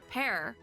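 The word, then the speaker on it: Pers: don't worry about it pear so you don't say the S Penguin's name is pear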